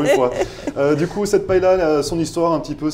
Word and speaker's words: paella: ça a été la paella. Alors, je crois que je ne le prononce pas très bien. Paella, vous non plus. On nous a repris. Paella, paella, voilà, c'est ça. Dire paella. Ouais.